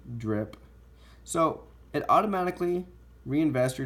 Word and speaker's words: DRIP: It's a dividend reinvestment plan, DRP, but pronounced DRPI as in DRIP.